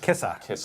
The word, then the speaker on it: Kissa: I think it's pronounced Kissy. Pronounced Kissa. Kissa, that's it.